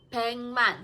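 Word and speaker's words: 백만: Korea itu kan pengman bengman 100 + 10.000 kenapa beng bukan beg karena G ketemu m itu jadinya dibacanya bukan GM tapi Eng Man Beng Nah nanti kita akan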